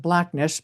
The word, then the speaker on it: Blackness: So he lived in Black Ness, Scotland, or you could I guess you could pron pronounce it blackness, but it was blackness, emphasis on the nest, which basically means lake.